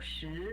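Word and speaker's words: 十: Ar, shi, san. Né? Isso. Ar, que é 2. Ele é no quarto tom, no caso. Ar. Uhum. Shi, de pergunta.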